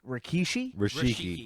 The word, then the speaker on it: Rikishi: Rikishi.